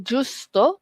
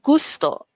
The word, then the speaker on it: gusto: Okey bukan juso tapi gusto.